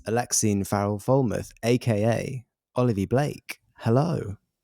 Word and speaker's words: Alexine: You did it, by the way. That is correct. I did it. We had a discussion about pronunciation of Alexine, which a lot of people get wrong, and you did right.